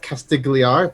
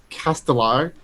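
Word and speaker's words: Castigliar: got to Port not castigar but Port it's castellar casti casar there we go like the g is silent um found that it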